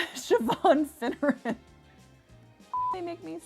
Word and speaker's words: Siobhan: the beloved siobhan oh i said it right siobhan finneran they make me say that name that's